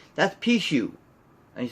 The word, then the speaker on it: Pichu: So the first one I'll show you here is number 579, and that is I can't pronounce his name. Pichu.